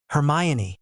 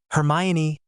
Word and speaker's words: Hermione: to her own chest this time and said, "Hermayan." The boy's tongues stumbled over the foreign name, and she almost smiled. It took a few more repetitions from them before they could say her name correctly. "Hermione," Harry murmured next to her, causing her to